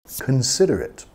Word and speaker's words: considerate: Considerate. Considerado. Igual a thoughtful. Ooh, he's very considerate. She's very considerate. Okay? Piensa mucho en los demás. Considerate. Vamos a enfatizar la segunda sílaba. Considerate.